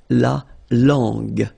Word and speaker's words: langue: Okay, so you get to put this U between the two to get the sound G. So you get la langue.